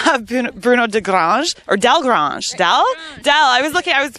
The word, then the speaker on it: Delgrange: And speaking of the saddle, it is actually a Bruno de Grange saddle. That's pretty good French accent I think I have going on. Sandy is a representative of Bruno de Grange, or Del Grange.